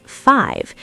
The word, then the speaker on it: five: Listen for the V sound. It's not F, it's five. Your top teeth have to hit your bottom lip to make the V sound.